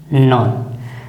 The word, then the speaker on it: known: न्यू का अर्थ क्या होगा, न्यू यानी जाना, नॉन जान चुका है, इसका उच्चारण क्या होगा, नॉन।